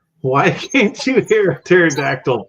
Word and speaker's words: pterodactyl: can't you hear a pterodactyl P because the p is silent is silent baby U